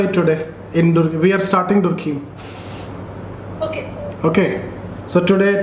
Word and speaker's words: Durkheim: Okay, so I pronounce it in this way, Durkheim. People say Durkheim or whatever it is.